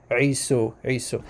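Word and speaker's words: عيسو: believe that Isa comes, I'm going to use the Arabic pronunciation for the brother of Jacob, Isu or Esau. Okay, the Arabic pronunciation Isu.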